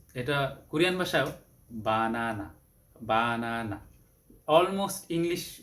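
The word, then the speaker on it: 바나나: তো এটা কোরিয়ান ভাষায়ও বানানা, বানানা, almost English উচ্চারণই, almost.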